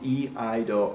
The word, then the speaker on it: iaido: If you're old enough to remember the rhyme, Old MacDonald had a farm, that'll help you a little bit. E-I-E-I-do, right? E-I-do is how you pronounce. E-I-do is how you pronounce the name of the martial art that involves swords.